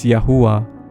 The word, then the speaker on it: Jah: tersebut di sound 68:4 huruf j itu baru ditemukan pada tahun 1524 dulu huruf j dibacanya y jadi Jah dibacanya yah juga merubah nama Abram